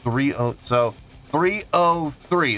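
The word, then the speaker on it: 3OH!3: such as pronounce this 303. That's the name. That's how the band is pronounced, but it's spelled 3OH exclamation point 3.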